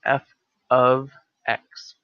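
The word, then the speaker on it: f(x): H of T but this is pronounced f of X this is not F times X X is the argument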